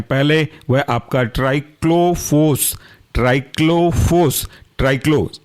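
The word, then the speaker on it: Triclofos: उसके अंदर रखे गए हैं पहले वह आपका ट्राइक्लो फोस ट्राइक्लो फोस ट्राइक्लो टी आर आई सी एल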